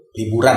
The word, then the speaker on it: Liburun: Liburan bacanya karena di saat libur kita berlari.